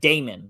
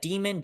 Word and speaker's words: Damon: I'm sure you do, but it's Damon, like Daemon. Mon. Yeah. Like you would pronounce? Would you pronounce that demon? Diamond? How would you pronounce In that? my head, it's Damon. And I guess it could be Demon, but I say Damon in my head.